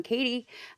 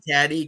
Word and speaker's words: Cady: folk and with me today I have John Katie and did I say that right yeah yes